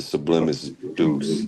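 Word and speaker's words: Sublimis Deus: It's the sublimis deuce.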